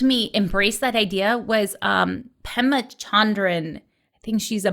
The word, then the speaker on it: Pema: embrace that idea was Pema Chandran. I think she's a monk of some type. She has a quote about... Wait, so say it again. Hema with an H? Pema, P-E-M-A. Oh, P. Okay.